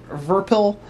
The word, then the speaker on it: Virpil: I'm happy for that I think it's they're pronounced verbal uh for now I'm just going to call them VPC that's their other nickname so